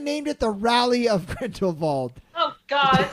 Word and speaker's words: Grindelwald: Grindelwald is actually how they pronounce it, so I will do it the right way.